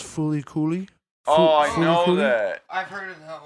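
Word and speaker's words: FLCL: uh number 10 um it's f l CL but it's pronounced foly coly that I've heard of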